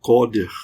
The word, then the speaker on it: CDR: Ou em inglês isso é pronunciado coder, tá?